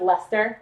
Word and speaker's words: Leicester: It's pronounced Leicester, so blue-faced Leicester.